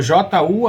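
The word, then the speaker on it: 柔: o sobrenome Aikijujutsu, porque o JU, a pronúncia é Jiu, né? Jiu lá para Jiu-Jitsu não tem no japonês, tá? É Ju, então é Jiu na pronúncia de JU, Aikijujutsu.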